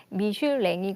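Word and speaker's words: Michelin: 어떤 건가요 교수님 예 미슐랭은 프랑스의 본사를 둔 엠타이어 회사의 프랑스 발음이 미슐랭이 그든 그 미슐랭 가이드는 1900년대부터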